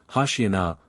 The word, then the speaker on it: Hoshiana: 25, Hoshiana, a pure Hebrew expression, as Drusius shows, and not Syriac, see Poole's synopsis on Matthew 21. 9, but corrupted in the vulgar pronunciation of this frequently repeated hymn, into Hosanna.